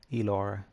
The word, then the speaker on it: Elora: The moon goddess, Elora. Well, that's how I pronounce her name. That's how I want her name to be pronounced. But it could change.